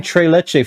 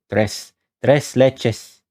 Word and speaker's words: tres leches: you do pronounce this I've been saying Tre leche for the longest time me Tres tres leches Tres Leches do you pronounce this the S and the leches the place that uh